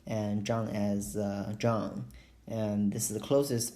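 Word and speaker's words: Zheng: pronounce this how as how and John as John and this is the closest pronunciation to my Chinese name you can call me dr.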